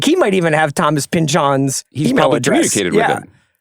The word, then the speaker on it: Pynchon: Unless we've been saying his name wrong and it's Paul Thomas Anderson. Because he said Thomas Pynchon. I have been saying Thomas Pynchon for my whole life. Yeah, like Thomas Pynchon. Pynchon.